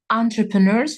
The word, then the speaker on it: entrepreneurs: So Entrepreneurs — это у нас предприниматели, да? Пишется entrepreneurs, но произносим его entrepreneurs. You see?